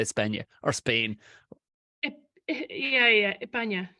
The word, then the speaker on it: España: Yeah, España. They don't really pronounce their S's.